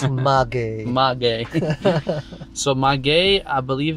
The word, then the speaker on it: Maguey: It's not your gay or our gay, it's Maguey.